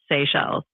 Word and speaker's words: Seychelles: And it's spelled S E Y C H E L L E S. How do you pronounce that? Uh that would be pronounced Seychelles.